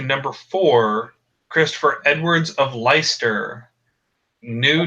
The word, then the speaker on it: Leicester: valid documentation for of leister with a spelling Leicester less sorry yes alright yes we all we've all done it those cases where all of a sudden English turns into French and you don't pronounce the way it's spelled yeah well yeah that's